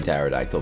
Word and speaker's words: pterodactyl: It has a silent T in pterodactyl, by the way.